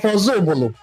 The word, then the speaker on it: Ozubulu: The Igbo in Council of Ozubulu explained that the name of their town is pronounced as Ozubulu from Oza Ubulu, and certainly not meaning another Ubulu, as often misinterpreted.